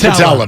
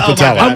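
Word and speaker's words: Putila: Is it Petula or Patella? It's Patella, by the way. Yeah, it's Patella. No, we're all learning together. Well, no, it's a U that's pronounced as an E.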